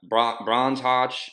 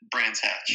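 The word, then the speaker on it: Brands Hatch: So, um, but as far as these last two rounds, um, was it, uh, Bronze Hodge and Donathan? I'm probably pronouncing those wrong. Donathan's a little easier. Brans Hatch.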